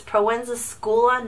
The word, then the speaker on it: Proenza Schouler: this bag but yes I know I've been pronouncing it wrong it's pregnant it's Proenza Schouler not sure for some